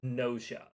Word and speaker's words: Gnosia: Uh, so the game I'm looking forward to play today is, as you can see, I believe it's pronounced Gnosia.